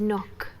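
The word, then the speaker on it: Nøkk: It's Nook. Nook is, I think, the way that they have intended her to be pronounced.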